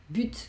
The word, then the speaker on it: but: Quiero decir que puede haber palabras como but, que siempre te he dicho que es objetivo, portería, gol, ¿vale? Esa palabra, por ejemplo, la T, aunque habitualmente no la pronunciamos, en este caso sí la pronuncio.